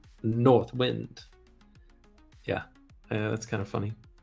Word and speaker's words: North Wind: Wind by the way doesn't it sound much better if you pronounce that last word North Wind as one word with the accent slightly on the first syllable North Wind yeah that's kind of